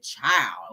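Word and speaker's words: chile: uh like in Thug language when she said child okay c h i l e take the d is silent when you know when she when she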